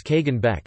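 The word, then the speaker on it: Kagan Bek: armies were led by the kagan beck pronounced as kagan beck and commanded by subordinate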